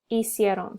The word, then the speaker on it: hicieron: So it's hice, hiciste, hizo, hicimos, hicieron. So you don't pronounce the H.